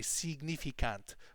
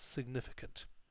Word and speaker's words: significant: of our European cousins mispronounce this very simple word they say significant but it's of course not that in English it's significant okay so significant of course